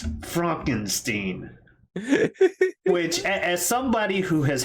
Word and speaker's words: Frankenstein: Because he sounded genuinely offended when people would say Frankenstein. He's like, it's Fronkensteen.